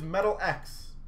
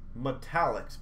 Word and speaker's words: Metallics: I know a lot of people are going to call these Metal X. Metallics, by the way. That's a pronunciation of these.